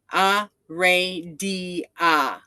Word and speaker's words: Aradia: So first, the way to say her name magically, you will want to chant. And it is there's four symbols. Aradia. And Ray is what you want to bring out. Aradia. Aradia is the proper way to call her presence.